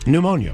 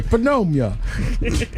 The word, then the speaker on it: pneumonia: Pneumonia. Pneumon I was about to say penomia.